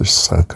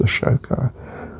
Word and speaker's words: Ashoka: And you know, what is Ahsoka's, sometimes pronounced Ahsoka and sometimes pronounced Ashoka. I don't know, it's S or it's SH, depending which spelling you want, from the Anglican point, English point of view.